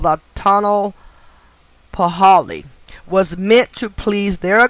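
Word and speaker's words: tonalpohualli: the 260 day calendar called the tunnel for holly is spelled t-o-n-a-l-p-o-h-u-a-l-l-i so you may can look that up and pronounce it better than i just did but it's called the tunnel paholi was meant to please their gods and to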